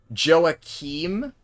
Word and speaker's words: Joachim: was a bit off try pronouncing it like the EA in the West uh Joe Akim right like that maybe I'm not sure if that was correct Joachim like that uh noises look at